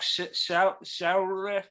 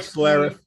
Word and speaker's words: Schlereth: Mark Shoutref. Doesn't matter. Doesn't matter. Mark I Schlereth. don't know. His name is spelled SCH. Mark Schlereth.